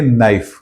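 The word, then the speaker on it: knife: जब हम उस वर्ड को बोलते हैं तो हम के को हम साइलेंट रखते हैं और हम उसे कहते हैं नाइफ।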